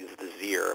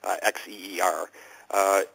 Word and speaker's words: Xeer: I'll mispronounce it slightly, Xeer, but I just can't rasp my voice like they do, Xeer.